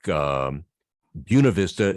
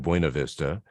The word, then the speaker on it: Buena Vista: What's especially interesting sometimes is in Colorado, where you have a name that's Spanish derived, but the locals pronounce it differently, like Buena Vista instead of Buena Vista, and Pueblo instead of Pueblo.